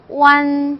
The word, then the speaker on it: uan: 자, U는 우 발음이 났죠? 우 발음했다가 AN은 쉬워요. 안 발음 났죠? 그래서 오안 쉽죠? 그냥 얘는 오안이라고 발음하시면 돼요. 완, 그죠?